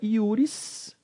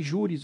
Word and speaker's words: iuris: Bom, jurisdição vem da palavra iuris, ou juris, que significa direito. Tá? Aqui eu falei juris ou iuris, porque no latim o J, você pronuncia com J, com o som de J ou com I.